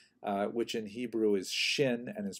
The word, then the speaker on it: shin: For example, the letter, which in Hebrew is shin and is pronounced in English with the sound sh, you know, pronounced together,